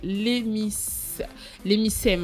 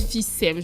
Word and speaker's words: emphysème: Alors, donc, la plus connue des maladies pulmonaires chroniques est l'hémicème, en fait. C'est quoi? C'est une maladie. Emphysème, là je prononce bien.